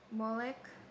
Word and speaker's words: Molech: the fire uh fire to How to pronounce Molech? Molech?